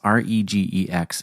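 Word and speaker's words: regex: which is shortened as re gx and I always pronounced as reax. I've recently learned apparently other people pronounce it as reg x because it's regular expressions.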